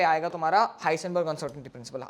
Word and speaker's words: Heisenberg: चलो, तो यहाँ पे आएगा तुम्हारा हाइसेनबर्ग uncertainty principle. Actual pronunciation is हाइनबर्ग, ठीक है, एक्चुअल प्रोनाउंसिएशन इज हाइनबर्ग, ठीक है, करेक्ट प्रोनाउंसिएशन इज हाइनबर्ग, ठीक है.